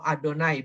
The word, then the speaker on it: YHWH: Ingat, dari terjemahan kata YHWH atau Adonai bacanya.